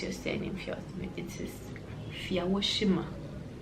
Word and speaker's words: Fiawosime: I say Fiawosime because it's easy. I also have a can in me, so it's just easier to say and easier for people to like grasp. But the proper pronunciation is Fiawosime.